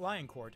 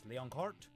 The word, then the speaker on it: Leoncourt: Liam de Lecourt, who is Liam de Leoncourt, not Lioncourt, it's Leoncourt, because you have to pronounce it fancy.